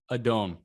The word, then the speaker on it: Adon: How do you pronounce his name? Adon.